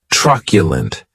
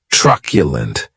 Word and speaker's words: truculent: the next adjective is truculent and this word has three syllables and the stress is on that first syllable keep in mind thatu